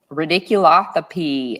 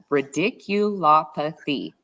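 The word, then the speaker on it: radiculopathy: um great claim to go after yeah absolutely ridiculo oh always say it wrong ridicul apathy okay when you see that fabulous word uh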